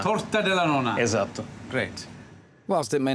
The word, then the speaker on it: torta della nonna: Torta della nonna. Torta della nonna.